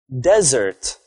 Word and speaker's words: desert: You put the stress on the first syllable of the word.